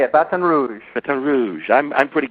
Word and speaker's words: Baton Rouge: you are you're in Baton Rouge did I pronounce that right yeah Baton Rouge batan Rouge that's how they say it batan Rouge batan Rouge I'm I'm pretty good at lingu